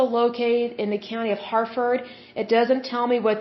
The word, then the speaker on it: Harford: It is located in the county of Harford, however you pronounce that. It's Harford.